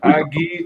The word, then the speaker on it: Aggie: A is it Aggie or AG? Well, his name's Ag, but we pronounced it Aggie.